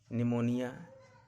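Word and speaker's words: pneumonia: इसको पढ़ा जाता है साइकोलॉजी, निमोनिया, रिसेट। आर कब साइलेंट होता है?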